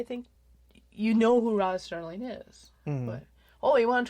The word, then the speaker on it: Serling: it with man Roger Sterling I put a tee in his name its Serling I don't know why